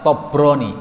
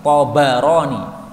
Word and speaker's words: Tabarani: Ini sebagian orang bacanya salah, Tobroni, salah ini Tabarani, baknya di fathah. Karena ini asalnya dari Tabariyah menjadi Tabarani, bukan Tobriyah, maka salah itu bacaan Tobroni. Tobroni itu orang Jawa, orang Arab Tabarani.